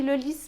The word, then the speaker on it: Lourdes: de vez em quando se a palavra se termina com a consoante S você também deve pronunciar o som de s é o caso de Hermes e também de Lourdes Brom que é a